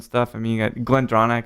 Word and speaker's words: GlenDronach: I mean, you got Glendronach. Is that the right way to say that? Yeah. Yes, Glendronach, yeah. So you got a great arsenal of stuff to go on.